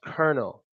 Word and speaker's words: colonel: it is actually pronounced Colonel ke R and E L that's how it's pronounced but that's not how it's spelled now Colonel is basically